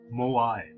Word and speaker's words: moai: how you pronounce it is that how you pronounce it mr wikipedia moai all right there you go thank you very